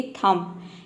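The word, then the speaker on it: thumb: करते हैं, जैसे कि थम। यहाँ पे बी साइलेंट है, टी एच का हो जाएगा थ, यू का हो जाएगा और एम का हो जाएगा म, ये पूरा हो जाएगा थम।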